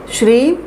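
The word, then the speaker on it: श्रीं: जैसे एक बार श्रीम लिखा, पहले तो उच्चारण उसका सही हो, जो इंग्लिश में हम लोग लिखते हैं SHREEM श्रीम, और हिंदी में आप लिखते हैं श्रा, उस पर दीर्घिकार होता है और एक बिंदी लगी होती है, तो उसका जो उच्चारण होता है श्रिम।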